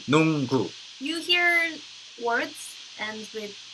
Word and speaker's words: 농구: 농구. 농구. 농구. 농구.